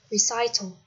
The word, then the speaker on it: recital: Vừa nãy mình có đọc sai cho các bạn từ này, đọc là recital.